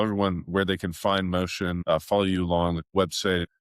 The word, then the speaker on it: mōcean: And Motion uh is spelled m o c e a n. So, it's ocean with an m in front of it.